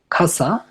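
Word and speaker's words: かさ: যেমন খাসা যেটাকে লেখার সময় লেখে কাছা যার মানে হচ্ছে ছাতা।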